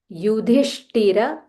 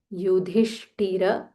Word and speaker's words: युधिष्ठिर: इज़ अ विसर्ग here युधिष्ठिर युधिष्ठिर ध महाप्राण थ महाप्राण युधिष्ठिर शानवम शानवम so when there is अ विसर्ग फॉललोड बाय श वी जॉइन टुगेदर एंड से युधिष्ठिर शनवम युधिष्ठिर शंतनवम द